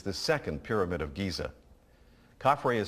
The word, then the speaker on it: Khafre: Khafre is spelled K-H-A-F-R-E.